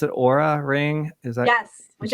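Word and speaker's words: Oura: you recently wrote about the i believe you pronounce it aura ring is that yes which i'm still wearing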